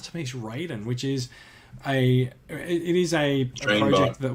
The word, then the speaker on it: Raiden: I use the Mortal Kombat pronunciation of the name. He's Raiden to me, and arguably the best Mortal Kombat character as well, by the way.